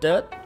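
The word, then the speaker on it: Tết: but in vietnam it's also called tet or that take it right that dirt tea like tea no but tea would be tet better pronunciations from vietnamese go commonly known as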